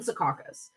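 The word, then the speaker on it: Secaucus: here I need to I know how to pronounce that it's up in sakas which is just under about two hours away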